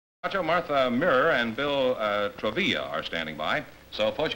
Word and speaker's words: Travilla: Groucho, Martha Mirrer and Bill Travilla are standing by. So, folks, come in, please, and meet Groucho Marx. Welcome to You Bet Your Life. Say the secret word. Martha Mirrer and Bill Travilla, huh?